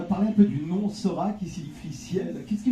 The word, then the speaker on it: Sor4: Il y a une petite astuce en plus dans l'écriture, hein, parce que ça s'écrit Sor 4. Nous, tout bêtement, évidemment, animateur radio, Sor 4, ouais, en fait c'est Sora.